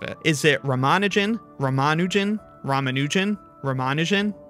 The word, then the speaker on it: Ramanujan: stink out of it is it ramanin ramanin ramanujan ramanin ramanujan I believe the stress is supposed to be